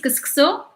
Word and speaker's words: couscous: Shahid kuskuso. Yes. By the way, like we do write couscous, but like we pronounce it as kuskuso, like this.